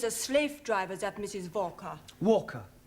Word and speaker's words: Walker: slave driver at Mrs Walker Walker what w is pronounced W your employer's name name is Walker yeah Walker do you know